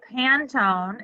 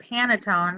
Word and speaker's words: Pantone: it is announcing that Pantone, is that how you pronounce it? I think so. In my head, I always pronounce it Panettone, like the Italian Christmas baked good, but that's not right.